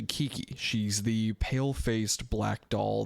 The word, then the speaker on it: Kiki: So it's not Kiko. I've been saying her name wrong the entire time. Her name is actually Kiki.